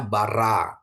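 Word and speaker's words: בָּרָא: kamat terus ini alep alep ini silent ya Bapak Ibu ya silent ya jadi bacanya Bara menciptakan atau dia telah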